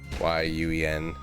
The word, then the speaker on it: Nguyen: Somebody also had the Vietnamese name Nguyen in there, you know, Nguyen.